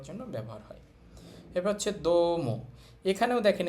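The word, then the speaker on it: どうも: এবার হচ্ছে দম। এখানেও দেখেন এই উটা কিন্তু উচ্চারণ হবে না। কারণ এর আগে একটা ও সাউন্ড আছে।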